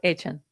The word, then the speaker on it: Etienne: Yeah, his last name is actually pronounced Etienne, like Devin Etienne almost.